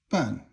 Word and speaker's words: 半: Ban is fourth tone, and it means half.